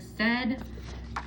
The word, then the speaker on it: said: So I'm going to use my strategies and my procedures for teaching the word said. And the AI is the heart part because it makes a short E sound.